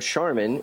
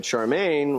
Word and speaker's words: Charmin: it was you because you mispronounced the word Charmin and you said Charmaine which it was copyrighted